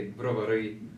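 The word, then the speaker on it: Brovary: originally from ukraine uh the city of bravery in ukrainian we say bravory but it's very close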